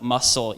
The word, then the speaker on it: muscle: Every single one of these letters is not pronounced at all. So I say critically, subtle, muscle, yacht, Wednesday, fifth, sign, herb, what, business. Literally almost every single letter in the English language, consonant and vowel, is not pronounced at all in some words.